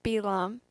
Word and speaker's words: Balaam: the help of a sorcerer a fellow named balaam in hebrew his name is pronounced belam because balak believes that the only way he